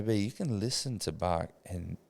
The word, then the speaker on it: Bach: The composer, Bach. right? Yeah, it's Bach.